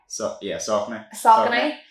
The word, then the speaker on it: Saucony: It's Saucony.